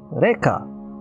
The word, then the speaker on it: Reka: well demo alley today we're playing Rea and it's pronounced like that it should be pronounced like that it is that it's Rea uh it is a